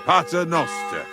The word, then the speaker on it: Pater noster: Pater noster.